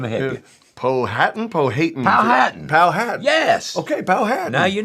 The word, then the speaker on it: Powhatan: Andrew from, I don't want to mispronounce this. Let me help you. Powhatan? Powhatan. Powhatan.